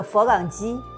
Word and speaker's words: Folangji: They called them Folangji cannons, named after the Folangji, the Chinese way of pronouncing Franks, which functionally meant Europeans.